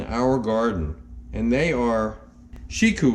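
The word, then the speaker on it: Shikou: garden and they are shiku eggplants which is spelled um s-h-i-k-o-u it's a variety of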